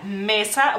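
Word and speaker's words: mėsa: Pero se pronuncia igual, mesa, bueno, mesa en lituano cae el acento sobre la A, digamos así.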